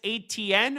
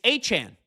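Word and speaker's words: Etienne: And they lost uh Travis ATN, who do you see how you pronounce his name now?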